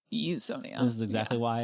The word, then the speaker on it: Usonia: Eonia is the correct pronunciation. It is. Yes. Okay. Not usia, it's Eonia.